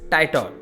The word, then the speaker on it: Titor: Tied off here is pronounced as Titor, referring to John Titor, who claimed to be a time traveler.